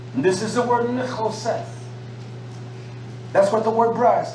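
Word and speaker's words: נחשת: And this is the word Nichoseth. That's what the word brass, that's how you pronounce it. Nichoseth.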